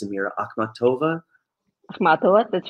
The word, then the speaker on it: Akhmatova: As for Russian poets, you know, even recently I was reading, you're going to have to help me with pronunciations, Amira, Akhmatova. Akhmatova, that's right.